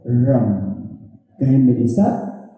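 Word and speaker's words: रं: मंत्र है वो है रम। कहें मेरे साथ, रम। यानी कि रॉ के ऊपर एक बिंदी जब हम उसका उच्चारण करते हैं तो कहलाता है रम। अंग्रेजी की बात करूं तो RAM, रम, रम।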